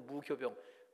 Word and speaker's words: 무교병: 근데 교라고도 읽어요. 앞에 올 때는 효자로 하고 가운데 올 때는 교자로 읽는 거로 알고 있어요. 그래서 무효병이 아니고 무교병. 발음이 효는 가운데 오기 쉽지가 않아요. 그래서 교로 발음하는 것 같아요.